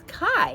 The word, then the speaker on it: Kai: The next one is Kai, and that's how it's pronounced, but it's K-A-I.